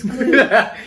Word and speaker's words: Klugh: And her name literally is Miss Clue. No, Yes, I know. I was but it's thinking spelled- of Blue's Clue. It's spelled Klugh, ladies and gentlemen. Clue.